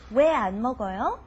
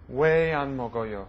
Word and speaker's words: 왜 안 먹어요: Even though it's written separately, you pronounce it as one word. Why don't you try it one more time? 왜 안 먹어요? 왜 안 먹어요?